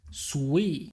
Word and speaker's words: SUI: In their documentation, they actually say it's pronounced SUI, which is derived from Japanese and means the